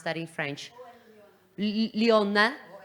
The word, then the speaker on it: Lyon: I don't know how to pronounce that in French. Lyon. Lyon.